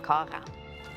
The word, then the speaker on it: Karen: My name's "Kah-ran". And how do you spell that? It's spelled "Karen".